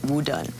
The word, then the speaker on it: WuDunn: and then hang up he decided well he's going to take the Mander pronunciation of his name and call it w done so that's how I'm